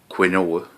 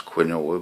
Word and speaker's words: quinoa: almonds uh some quinoa it's spelt quinoa i used to know it as quinoa but apparently it's quinoa some dried cranberries and